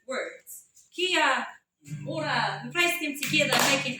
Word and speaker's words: Kia ora: Kia ora has several meanings. It just depends on how you say it. Kia ora can be used to say hello.